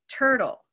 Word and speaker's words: turtle: So where is the stress in turtle? Turtle. Turtle. Either way, turtle is stressed in the first syllable.